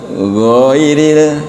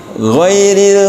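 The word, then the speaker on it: غير: Jadi bukan ghairil bukan bukan ghairil tapi ghairil maghdubi alaihim waladin gitu.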